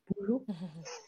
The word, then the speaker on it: Bujo: Alors nous, on a voulu parler aujourd'hui du bullet journal, aussi appelé Bujo, comme on veut, Bujo. Je prononce à la française.